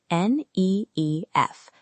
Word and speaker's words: NIF: Pronounce NIF as letters, n e e f.